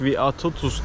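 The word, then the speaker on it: Vytautas: Büyük Vyatautas diye okunuyor galiba. Büyük Vyatautas birçok Karay dinine mensup insanı buraya köle olarak getiriyor arkadaşlar.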